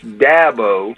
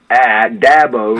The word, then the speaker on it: Dabo: It's Dabo, as in Apple, Dabo, and I get all kind of pronunciations of that, and it's Sweeney, as in just like E-E.